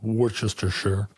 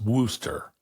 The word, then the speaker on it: Worcestershire: have been told that it is not pronounced Worcestershire sauce. The shire isn't even pronounced at all, and ultimately it's Worcester sauce.